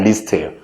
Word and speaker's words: least: 발음이 중요해요. 이건 less가 아니라 least예요. little, less, least가 되겠죠.